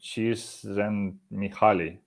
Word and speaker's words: Csikszentmihalyi: I try to pronounce his last name. Csikszentmihalyi.